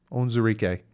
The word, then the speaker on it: Onwuzurike: Micah Parsons, I said his name wrong. I get so much crap. Levi ONWUZURIKE. Yeah, I said this name right. ONWUZURIKE.